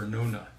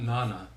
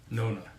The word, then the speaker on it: Nona: the correct pronunciation of Nona and Adar Adar how would you pronounce it Nona and Adar okay there you go but it is a long o for Nona not Nana Nona yes and Adar is like